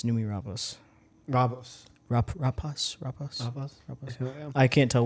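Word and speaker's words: Noomi Rapace: It's Nomi Rapace. Oh, it's Rapace. Yeah. I always say like Rapace. I thought it was Numi Rapace. It's Rapace. Yeah, it's Numi Rapace.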